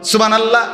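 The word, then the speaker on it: سبحان الله: কই আপনি যে কইলেন সুবহানাল্লাহ সুবহানাল্লাহ তো হা উচ্চারণ হইছে এটা তো এটা জিকির হইলো তো সুবহানাল্লাহ কইয়া যে থাইমা গেলেন তো লামের মধ্যে থাইমা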